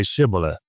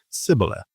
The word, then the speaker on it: Shibboleth: And when he said no, they said to him, then say Shibboleth. And he said Sibboleth, but he could not pronounce it right.